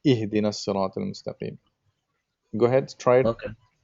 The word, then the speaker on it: اهدنا الصراط المستقيم: So there is almost like a slanted vowel that you're pronouncing, but you know, it just needs to be like a sharp I kind of thing, like ihdinas siratal mustaqim.